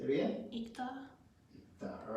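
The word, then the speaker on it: 읽다: How do we pronounce this word? Ikta. Say it again. Ikta.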